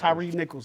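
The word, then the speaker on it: Tyre Nichols: Tyree Nichols. I want to make sure I pronounce his name right.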